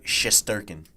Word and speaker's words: Shesterkin: There's no way I'm going to be able to pronounce that name. Like, what? Say it one more time. Igor Shesterkin.